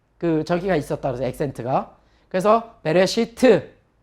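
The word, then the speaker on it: בְּרֵאשִׁית: 자, 알렙이나 아인이라고 하는 그 문자는 모음이 없으면 그냥 묵음이 되는 거예요. 그래서 배, 레 하고 요건 묵음이고요. 그 다음에 쉬. 요건 장모음이죠. 시트. 한번 해보죠. 베레시트.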